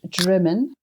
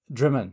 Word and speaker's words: Drymen: Yeah, it's pronounced Drymen. Drymen.